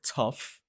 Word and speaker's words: tough: They both end with OUGH, and both of those two endings are pronounced as uff.